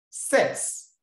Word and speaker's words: cet: Sets. The problem is here. This set, please pay attention as I'm explaining. Good. C-E-T is pronounced set. It's not set, but set.